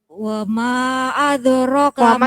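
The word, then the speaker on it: وَمَا أَدْرَاكَ مَا: gondrong wama adrokama ya Jadi cukup gua ketukan saja jadi jenengan tadi bacanya wama adrokama kelebihan jadi Mat gondrong jenenge kepanjangan wama adrokama sitenya Cukup dua ketukan hadroh kamar lagi wama adrokama yang panjang semuanya memang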